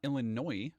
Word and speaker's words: Illinois: Why did I pronounce the S there? Uh, Illinois.